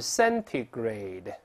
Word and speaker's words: centigrade: 读慢了是 centigrade，读快了之后 centi 变成 centi，这个字母 t 这个 t 又会轻轻浊化震的。